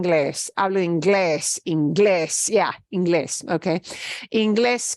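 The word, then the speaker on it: Inglés: Ingles yeah English Okay Ingles gets our an accent mark on the ending because that's not this that's the last syllable it's different right the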